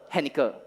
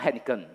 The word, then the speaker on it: Henniker: Henniker. It's not Henniken. Yeah, Henniker. So it's more easy for you to remember this name, right? Henniker. So don't pronounce wrongly.